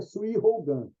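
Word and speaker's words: 水泡眼: Em japonês a gente pronuncia Sui Hougan, olho de bolha.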